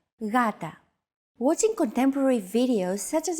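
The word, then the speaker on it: γάτα: initial G letter but it is not pronounced Gata the first consonant is softer ugata watching contemporary videos such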